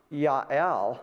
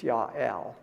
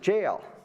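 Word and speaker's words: Jael: and then we got looks like JL pronounced Yael while goat you it almost thinks like God because Yah is means God and L means God but it's Yael uh when I read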